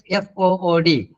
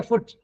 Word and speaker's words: food: Next, F-O-O-D. Food. Yes, exactly. It is food. Don't say foot. Then it will become FOT. Food. You should always say stress it. Food.